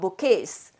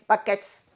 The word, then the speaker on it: bouquet: followed the presentation of bouquets notice the way i spelled this don't spell don't pronounce it as bouquets buckets you know you call this as a bouquet bouquet means a bunch